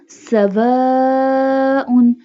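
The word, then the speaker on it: سَوَاءٌ: Scene को सीटी के आवाज से अदा किया जाएगा और अलिफ के ऊपर मद है सो इसे खींचा जाएगा. सवाउन.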